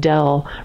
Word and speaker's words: del: And just because the people in this class won't have seen that funny D, that's called del. So you pronounce that del capital T, del little t.